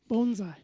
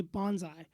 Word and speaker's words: bonsai: of a syntax correction so it's bone Z so bone like give a dog a bone saigh that's how you say it bonai bonai perfect because I think all of us say Bonsai yeah just kind of